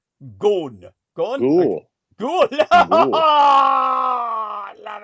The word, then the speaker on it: Ghosn: How do you pronounce that? Ghosn.